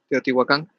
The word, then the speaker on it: Teotihuacan: Teotihuacan.